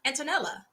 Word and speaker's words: Antonella: is absolutely correct and do not pronounce the e oh Antonella Antonella oh thank you thank